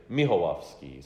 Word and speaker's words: Michalowski: keep the Polish element in my family, and as you so nicely pronounce my name, Michalowski. When I'm in Poland, they say Michalowski. So in Poland, it's Michalowski.